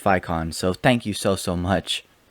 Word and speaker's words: Vicon: So I was saying Vicon, but he said it's pronounced Vicon.